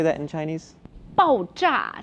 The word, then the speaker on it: 爆炸: 爆炸. So it sounds like bang, right?